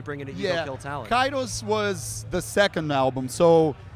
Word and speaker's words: Kairos: the Karios album from Sepultura. Yes. If I pronounced that right. Yeah, Um, Kairos.